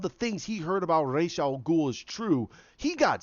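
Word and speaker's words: Ra's al Ghul: our ghoul it's not it's not it's not Ross I'm sorry it's not Ross its Rach it's Arabic in there is no I'm sorry it's Rach our goal so but that's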